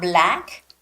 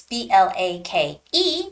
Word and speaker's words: Blake: the reporter's name is Blake Dawson Blake Dawson so it's not so hard to read it's not black right because it's b-l-a-k-e so you have to read it Blake Blake Dawson now when you're